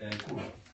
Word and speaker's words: cwrw: Kur. Kurwa, właśnie. Ale pisze się CWRW. W walijskim się czyta jako U. U się czyta jako I.